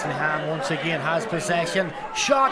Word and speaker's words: Lenihan: I think I was pronouncing his name wrong there. Maybe I had a couple of versions going at one stage, but yeah, it's Lenihan, as in Brian Lenihan.